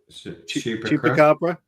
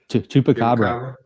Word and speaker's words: Chupacabra: Go on, Chris, pronounce that for me. I always get it wrong. Chupacabra. Chupacabra.